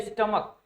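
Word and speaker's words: stomach: जैसे लिखा जाए स्टमक, ठीक है ना, जैसे लिखा जाए स्टमक, तो यहाँ पर सी एच तो लास्ट में आया है, लेकिन इसका उच्चारण कैसे है, स्टमक, ठीक है ना, तो क जैसा उच्चारण है।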